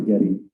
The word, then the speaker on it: Getty: Am I saying it right? Yeah, Getty, not Gary.